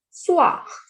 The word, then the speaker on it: soir: Le soir.